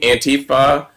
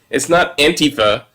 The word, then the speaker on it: Antifa: just so wrong because it's not Antifa, it's Antifa.